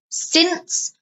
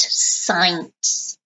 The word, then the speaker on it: since: his car since 2013 notice the pronunciation since not science okay I have had